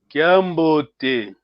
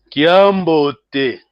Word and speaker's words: Kiambote: Kiambote. Ouve bem. São 3 sílabas. Então, seguir o mesmo pattern, o mesmo modelo. Kiambote.